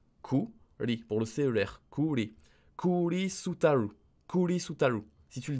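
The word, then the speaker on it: クリスタル: Pour cristal, on va écrire kuri, kuri, kuri, pour le CER, kuri, kuri sutaru, kuri sutaru.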